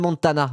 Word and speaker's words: Montana: Cyril Cyril Montana, je vais le prononcer à l'anglaise. C'est Montania en réalité.